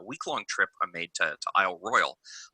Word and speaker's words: Isle Royale: trip i made to isle royal isle royale pronounced that way even though it is clearly spelled royale but whatever welcome to